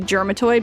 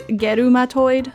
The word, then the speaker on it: Germatoid: I know it looks like it, as an English speaker, it looks like it should be Germatoid, but if you actually look at the katakana for this guy's name, it's Gerumatoid, so, hard G.